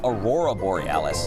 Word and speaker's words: Aurora Borealis: Okay, first off, you're pronouncing it wrong. It's Aurora Borealis. Boralis.